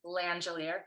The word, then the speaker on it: Langelier: My name is Langelier, if you're Quebecer. My pronouns are she and her.